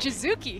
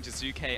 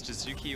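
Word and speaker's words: Jiizuke: Well, it's Jizuki or Jizuke, but I definitely pronounced it wrong.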